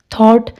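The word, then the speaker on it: thought: थॉट, अब देखो ए ई आई ओ यू, यानी यू के बाद क्या आ रहा है? जी एच, वाउल के बाद आ रहा है, तो इसमें जी एच साइलेंट है।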